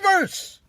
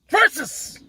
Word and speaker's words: versus: It's not verse. Versus. Versus. Okay? Godzilla versus Megalon. Godzilla versus the Smog Monster. Godzilla versus Biolante. Godzilla versus Megaganus. Godzilla versus Gigan. Versus. Not verse.